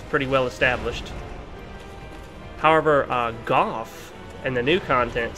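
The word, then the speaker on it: Gough: pronounced SM that's pretty well established however uh Goff and the new content spelled the same way except with a g at the beginning is pronounced actually Goff we know that because his name is spoken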